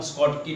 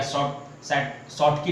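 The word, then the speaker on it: Schottky: ध्यान देना कि कौन स्कॉटकी डिफेक्ट शो करेंगे। ठीक है, या शॉर्टकी डिफेक्ट बोलिए, स्कॉटकी डिफेक्ट बोलिए। ठीक है ना, प्रोनाउंसिएशन आपको जो इच्छा करे तीनों में से ले लीजिए।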